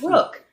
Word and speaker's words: Rooski: I know there's a tendency to have the ooh because the o, but it's rook. Rook, like in chess.